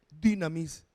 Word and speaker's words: dunamis: Se escribe dunamis, pero es una I francesa, dinamis, que significa poder, autoridad, unción, maravillas y milagros.